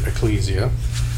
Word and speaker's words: ekklesia: that's translated church ekklesia some pronounce it ecclesia ekklesia this was a local